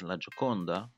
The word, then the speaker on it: La Gioconda: Well, we call it the Mona Lisa, but its actual name in Italian is La Gioconda, or in French it's called La Joconde.